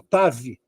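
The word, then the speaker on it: תו: isso aqui por exemplo tal não é tal você vai ler como tav Tá mas na hora de pronunciar você pronuncia ta não dá nem para perceber que tem u ou V tá OK da mesma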